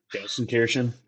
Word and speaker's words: Gelsenkirchen: There's a difference between Dortmund and, I'm going to butcher the pronunciation, so I'm just going to ask you to say it, Jake. Gelsenkirchen.